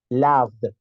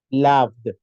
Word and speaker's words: loved: No por el hecho de que yo lo vea con una letra O, lo voy a pronunciar como O. El sonido que tienes de una letra muy parecida a una letra A. Loved, loved, loved. De que estamos hablando en pasado, tiene que sonar la D.